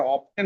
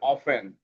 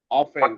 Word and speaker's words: often: আর এটা অফটেন হবে না, এটা উচ্চারণটা হবে অফেন। অফেন, she often gets order from her friends and neighbors।